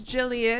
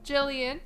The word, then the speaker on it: Jillian: It's 3 syllables. You can pull it off. Let's just stick with my name, Jillian. It's not that hard. Rhymes with million, billion, trillion.